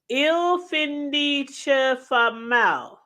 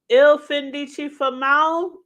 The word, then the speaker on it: Il Fin Di Chi Fa Mal: And I think the title of the show is pronounced. Okay, let's see. Il Findice Famal. Il Findici Famal. I think that's how you say it, aka the end of those who do bad.